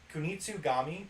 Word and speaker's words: Kunitsugami: Kunitsugami, Path of the Goddess, coming to Game Pass in 2024.